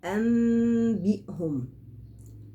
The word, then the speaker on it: أنبئهم: يبقى أنبئهم، قلبت النون الساكنة إلى ميم ساكنة، ثم تلامست الشفتين بخفة بدون كز. أنبي، كأن الميم بتتنطق باستحياء بغنة. في حالة الزمن بتاع التلامس الشفتين بجيب غنة حركتين، أنبئهم، ثم أطلع بحرف الباء بقوة، حرف باء شديد.